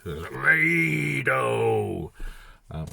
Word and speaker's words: Raidho: The books have slightly different variations on the pronunciation for it. I guess I kind of like the raid. Raidho!